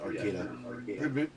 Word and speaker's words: Arcata: It's pronounced Arcata. People like pronounce it Arcata, but it's Arcata. That's how it's pronounced.